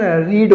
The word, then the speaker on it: read: दे रखी है READ, दोस्तों इसको अगर हम फर्स्ट फॉर्म में यूज कर रहे हैं तो दोस्तों इसका प्रोनाउंसिएशन रीड होगा और रीड। लेकिन दोस्तों जब सेकंड फॉर्म और थर्ड फॉर्म में इसका यूज कर रहे हैं दोस्तों तो उसे रेड बोलेंगे, रेड। चलते हैं दोस्तों, लेते हैं अगला वाक्य।